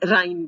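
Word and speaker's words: irine: Unsaturation आ गया, तो unsaturation हो जाएगा तो क्या टर्म यूज करेंगे, इरीन, या कई जगह इसको प्रोनाउंस राइन भी करते हैं, लेकिन इरीन करें तो एजा प्लस इरीन, और इसका ये काट दें एजीरीन, ये आपके पास नाम आ गया।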